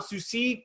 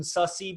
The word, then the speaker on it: Sussi: his name is Jordan Susi commonly mispronounced Jordan sussy but it's rude as you see and he's a